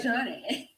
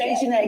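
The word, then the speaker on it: Dejanae: Dejani. That's good. It's Dejanay because it's got A-E on the end.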